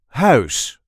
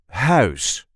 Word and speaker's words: huis: see how to pronounce house or in English house. This is the way we say house. House. The sound is one of the trickiest sounds for non-native speakers. Ow. Ow. Ow. House.